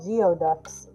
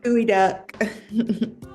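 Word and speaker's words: geoduck: I always thought they were called geod ducks. Yeah, it's spelled geod duck. I I don't think I ever ever heard anybody say it out loud. And now I I've read the word but never heard it. Yeah. Gooo duck.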